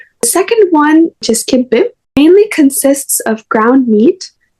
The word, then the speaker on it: kibbeh: And then also about the second one you said was, how do you pronounce that one? The kimbe. Kibbeh.